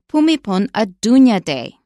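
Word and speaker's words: Bhumibol Adulyadej: of the late King pumipon a Dunya day and we had to work on that both of us because it is not pronounced like it's spelled so when you run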